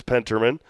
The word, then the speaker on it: Penterman: May have said Evan's name wrong. It is Penterman is on the mound.